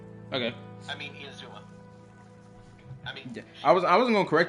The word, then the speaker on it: Inazuma: Otherwise, the entire story had nothing to do with Inuzama. Okay. I mean, Inazuma.